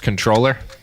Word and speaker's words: comptroller: word by the way comptroller because it's supposed to be pronounced controller not the way the Massachusetts comptroller pronounced it which is kind of